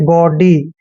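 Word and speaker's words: gaudy: ए आता है तो जी का उच्चारण ग करते हैं और ए यू का उच्चारण ओ करते हैं ऐसे ओ डी वाई को डी पढ़ना है गडी दोस्तों गडी क्या होता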